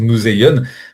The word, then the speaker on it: museion: Alors oui, on n'a pas exactement la prononciation exacte. On va le prononcer museion.